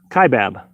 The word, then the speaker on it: Kaibab: that's kind of similar a family dollar it's pronounced K Bab okay thank you I do appreciate it KY book tai chi Bab Kaibab I had to reload to get back live